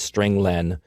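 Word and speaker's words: strlen: nine i pronounced its string len because it means string length it returns the number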